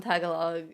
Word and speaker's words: Tagalog: what what is that the emphasis on Tagalog is in the second syllable and it sounds more